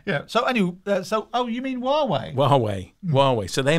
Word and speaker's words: Huawei: Oh, Huawei. How do you say it? Huawei. The Chinese company. Yeah, it begins with an H. Not Hawaii. Huawei.